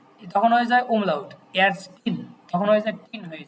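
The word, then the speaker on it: Ärztin: আর female হলে তখন হয়ে যায় umlaut এ, তখন হয়ে যায় umlaut এয়ারস্টিন, তখন হয়ে যায় টিন হয়ে যায়। স্ত্রীবাচক হলে উচ্চারণটা কি হবে?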